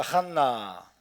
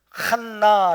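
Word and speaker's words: חנה: 한나 조안나 그렇죠 에서 한나 한나 칸나 라고 발음하기도 하고 그냥 그냥 1 1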